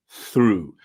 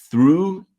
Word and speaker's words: through: pronunciation of the word through I know you can see a GH but it's silent okay and the th